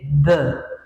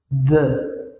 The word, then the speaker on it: the: the, les quería decir, recuerden que se dice the, no se dice d o t, ¿okay? Se dice, haz cuenta que tú tienes esta letra y yo te digo cómo, cuál es el sonido de esta letra, the, ¿verdad?